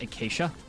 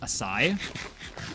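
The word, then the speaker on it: açaí: And for some reason, I don't know why, for some reason, I thought that was pronounced acacia. Um, and I have recently come to the understanding it's spelled it's pronounced asai.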